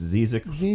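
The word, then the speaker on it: Zzyzx: ZX oh ZZ y ZX Road it's called zizzi Ro yeah and I mean that's the way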